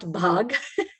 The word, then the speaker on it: BHAG: The pronunciation of this word is BHAG. So it's not bhag, like in Hindi word, it's like run, but you can run for your goals.